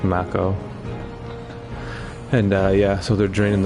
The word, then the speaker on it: Mako: I used to call it Mako back in the day when they didn't actually pronounce these in the old games. All you had was text, so I was called it Mako. But apparently it's Mako.